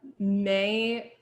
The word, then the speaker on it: Mai: Mai is too, or not Mai, it's spelled like Mai, but it's May.